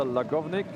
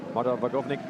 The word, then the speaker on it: Marta Vagovnik: Um, Marta Lagovnik, Vakovnik, is how you say that. Marta Vagovnik is set to finish